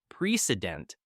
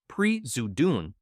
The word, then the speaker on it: president: Think about the word president. It's not precedent, it's prezudun. Wow, when you say it like that, the difference is huge.